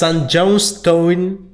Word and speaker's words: St. Johnstone: Que se lo dije mal, ¿querés pronunciarlo vos? No, creo que a ver cómo sería. ¿Cómo es? St. Johnstone. Es que suena St. igual. Johnstone, ahí está, perfecto. Claro, pero suena igual, pero no se escribe como en el nombre.